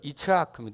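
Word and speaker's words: יצחק: 거라고 이름 뭐라 한다고요 히브리어 이츠하크 이츠 이츠 아크가 영어로 하면 스마일에 스마일 웃음 우리 한국어 발음으로는 이치 아크를 이삭으로 발음하는데 이게 지금 히브리어로 하면 우리가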